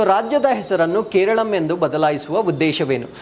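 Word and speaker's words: കേരളം: original pronunciation ಇನ್ Malayalam so ಮಲಯಾಳಂನಲ್ಲಿ so Keralam ಅಂತ ಅದನ್ನ ಉಚ್ಚಾರಣೆ ಮಾಡ್ತಾರೆ ಬಟ್ ನಾವು ಮಾತಾಡ್ತಕ್ಕಂತದ್ದು ಕೇರಳ ಅಂತ ಹೇಳ್ತೇವೆ ಸೊ ಅವರ ಮಾತೃಭಾಷೆ ಆಗಿರತಕ್ಕಂತ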